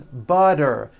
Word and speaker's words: butter: And butter becomes butter.